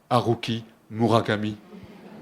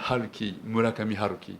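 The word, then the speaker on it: 村上春樹: connaissez sans doute euh peut-être on prononce aruki Murakami en français mais en japonais il s'appelle Halki mulakamki voilà alors j'ai lu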